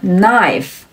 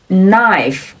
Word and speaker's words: knife: 还有其他的词，比如 knife knife knife 刀子，或者是 knight knight